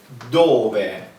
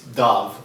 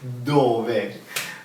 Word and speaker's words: dove: And Italian is dove. Careful, don't read dove. It's not a dove. It's dove.